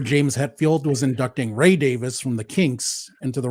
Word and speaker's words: Davies: also one of my pet peeves with American pronunciation is with the surname Davis in the British sense um I remember James Hetfield was inducting Ray Davis from the Kinks into the Rock and Roll